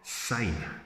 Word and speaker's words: syne: who's near Scottish um it's old long sign pronounced to an S no Z like Zimbabwe or zebra that's totally wrong um you hear it